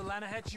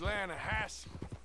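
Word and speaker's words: Lannahechee: the other day I rode down to the lahat river I caught some Beau L don't you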